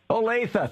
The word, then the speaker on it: Olathe: I've given up trying to pronounce the name of your city, Drew. I can never remember it. I always Olathe. Olathe, thank you.